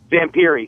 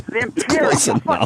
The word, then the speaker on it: Zamperini: I mispronounced his name. What'd you say? Zamperini. He was saying, yes, Zamperini.